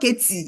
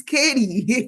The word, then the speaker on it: Katy: We've told you, it's not Katie, it's Katie. Even though it's spelled Katy, we've told you.